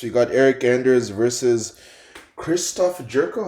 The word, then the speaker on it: Christoph: So next, we got Eric Anders versus Christoph Jerko.